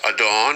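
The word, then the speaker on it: אדון: it's a uh it's adon right it's a masculine noun referring to a man, right? Uh transliteration adorn adorn pronunciation phonetic or don definition lord master owner meaning a sovereign or a controller.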